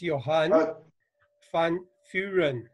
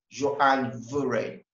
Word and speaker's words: Johan Van Vuuren: i will help you it is johan fun furion but you're very close thank you you don't pronounce the you call it y you pronounce it was right johann veren wow thank you all